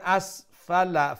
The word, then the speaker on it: أسفل: تقويم ثم رددناه أسفل سافلين আচ্ছা এখানে দেখেন আসফালা ফার উপরে যে জবর আছে সেই জবর কি লম্বা করে উচ্চারণ করব জি না লম্বা হবে না তো